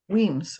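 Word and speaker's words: Wemyss: two more points sorry is it whams or whims whams weams okay weams yes um it doesn't look like that at all and I'm not sure what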